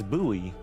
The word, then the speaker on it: buoy: An old wooden boy. That's a buoy. Why are you pronouncing it a boy? It's It's buoy if I recall correctly.